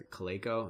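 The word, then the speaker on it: Calico: it's a Google X company called it's a clay Co that's how you pronounce it but their sole mission is secure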